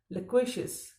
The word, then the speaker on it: loquacious: लक्वेशियस। Spelling है LOQUACIOUS।